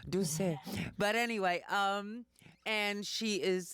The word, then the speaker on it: Doucette: You never pronounce the last T, Doucette.